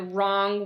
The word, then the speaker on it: wrong: if you're driving the wrong way or sounds like a are the W is silent the W says no sound wrong wrong okay let's